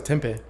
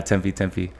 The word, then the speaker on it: Tempe: was going through like Tempe? Is that how you say it? Tempe, yeah. I thought it was Tempe. Nah, Tempe.